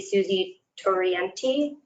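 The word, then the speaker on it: Susanne Torriente: The lead here would be Susie Torienti. That's how you pronounce it.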